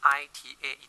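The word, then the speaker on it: eta: of energy therefore the efficiency symbol yah pronounced I ta da if you'll see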